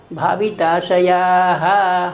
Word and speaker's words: भाविताशयाः: ऐसे मैंने क्यों बोला भाविताशयाः? हा क्यों बोला? क्योंकि दो या के बाद दो विसर्ग लगे हुए हैं, इसका उच्चारण ह किया जाता है।